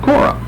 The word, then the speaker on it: Korah: And we have Korah. And of course, again, the Hebrew always going to accent the last syllable.